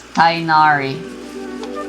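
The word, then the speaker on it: Tighnari: shows up here i call him tainari it's thainari that's how the that's how the english voice actors pronounce it at least what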